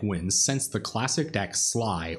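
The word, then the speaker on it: Sligh: since the classic deck Sly, or Slay, I'm not really sure how it's pronounced. Anyway, it's spelled S-L-I-G-H, and people started calling it Red Deck Wins back when that was around.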